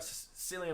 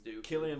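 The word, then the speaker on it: Cillian: we have to cover it so Oppenheimer uh Celia Murphy Killian thank you I knew I was gonna do that wrong why does everybody pronounce names wrong in here because we're American I don't know Killian Murphy great actor great um well if you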